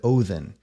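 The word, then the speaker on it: Óðinn: ought to be pronounced the word Odin is an anglicized borrowing taken from the old Norse word othen there's nothing inherently wrong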